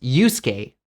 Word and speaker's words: Yusuke: So Akari becomes Akari, Tanaka becomes Tanaka, and Yusuke becomes Yusuke. 日本語の場合はすが入っていますね。でも実際にそのうの音をほとんど発音しないので、外国人にとって2つの音のように聞こえます。なので、Yusuke ではなく Yusuke になります。